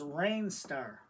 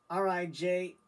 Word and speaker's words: Rijnstar: And the way you pronounce this is Rijnstar. I looked it up on the computer where they do the pronunciation, so it's R-I-J-N-S-T-A-R. It's pronounced Rijnstar.